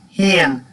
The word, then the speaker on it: féin: You just stick this word on the end, Féin, and pronounce it like this. Kaje Mara Tatu Hain. Now you notice I pronounce that with H sound, not with an F.